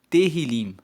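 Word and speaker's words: Tehilim: Tanto que o livro dos Salmos em hebreu se chama Terrilim. Se escreve T E H I L I M hebraico. Terrilim significa louvores.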